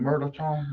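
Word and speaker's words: mirliton: David, do you pronounce the R in Merleton? Merleton. You start to pronounce the N and then you retreat, just like the French do.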